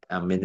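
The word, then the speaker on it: آمين: Qal ulama afakuha yang paling fasih ya yang ee yang paling anu ya yang secara fusha itu ya amin amin bil mad watakfifil mim amin ya a-nya a-nya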